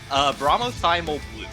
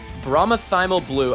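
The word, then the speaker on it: bromothymol blue: Bromothymal blue. Bromothymal blue.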